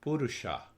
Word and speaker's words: purusha: second world you know first understand purusha pur pur you see the poor is the first syllable and sha is the second syllable so we have many